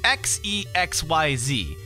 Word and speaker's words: Xexyz: It's spelled X-E-X-Y-Z. And I've always pronounced it as Xexyz.